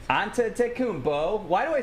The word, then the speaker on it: Antetokounmpo: Antetokounmpo. One more time. Antetokounmpo. Nails it. He nails every syllable in that name, and it's a tough name. Antetokounmpo.